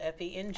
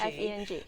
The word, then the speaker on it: Feng: It's really pronounced Feng, right? Yes, Feng. Yeah. Yeah, there's an American and Asian way to pronounce it.